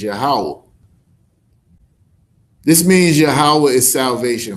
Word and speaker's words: Yahweh: We know that the right way to pronounce it is Yahweh.